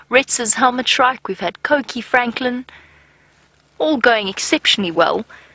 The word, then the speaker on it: Coqui: Coqui, Coqui. It is spelt C-O-Q-U-I, by the way.